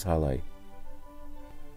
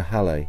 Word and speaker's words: Hallé: He changed his name to Halle, with an accent on the E so people wouldn't call him Mr.